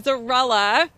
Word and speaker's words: Zarella: So Danielle Zarella. Rhymes with mozzarella.